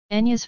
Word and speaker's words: Enya: the primary language her name is anglicized as Enya Patricia Brennan where Enya is the phone at expelling of Howie's knee is pronounced in Irish and I by trained translates